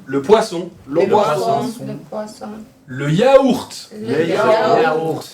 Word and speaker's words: yaourt: Le yaourt. Le yaourt. Aquí se pronuncia la T. Le yaourt. Un yaourt. Un yaourt. Sale mejor. Como pronunciando la T mejor.